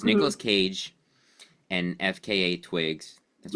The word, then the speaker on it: FKA twigs: It's Nicolas Cage and FKA Twigs. That's right. That's how you say it, right? You say the letters, right?